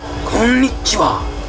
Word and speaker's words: Konnichiwa: And you say it like this. Konnichiwa.